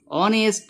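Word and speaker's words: honest: এন দিয়েছি এইচ ও এনই এসটি এম এন উচ্চারণ কি হচ্ছে অনেস্ট ম্যান খেয়াল করো অনেস্ট ম্যান তাহলে এখানে অয়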